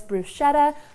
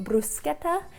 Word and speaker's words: bruschetta: In America we just call this "brew-shetta", but in Italy they call it "brew-sket-ta" and I probably butchered that yet again.